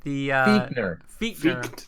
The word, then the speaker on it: Fichtner: But the AFC North Offensive Player of the Week was between Randy Fichtner, Fichtner. Sorry, I grew up with a kid named Fichtner that's spelled the same way.